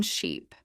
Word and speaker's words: sheep: In ship, the mouth is more relaxed. Short sound. In sheep, the sound is longer with a slight smile. If you stretch ship too much, you may accidentally say sheep.